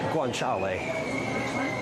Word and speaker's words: guanciale: How do you pronounce that? Guanciale.